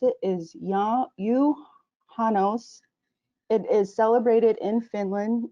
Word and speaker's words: Juhannus: So in Finland, it's called, it does have a J in it, but you leave the J silent. So the way you pronounce it is Juhannus.